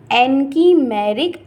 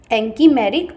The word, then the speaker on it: anchimeric: Reaction का, और इसी को हम बोलते हैं एनकीमेरिक असिस्टेंस।